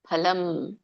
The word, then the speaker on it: ಫಲಂ: mute ಮಾಡಿಕೊಳ್ಳಿ ತ್ರಿವಿಧಂ ಕರ್ಮಣ ಫಲಂ ಫಲಂ ವ್ಯಂಜನ ಇದೆಮ ಫಲಂ ಅಂತ ಜಗಬೇಡಿ ಫಲಂ ಭವತ್ಯ ತ್ಯಾಗಿನಂ ಭವತ್ಯ ತ್ಯಾಗಿನ